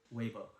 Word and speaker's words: Weibo: Do I how do I pronounce Yeah. it? Weibo? Weibo? 微博. Weibo.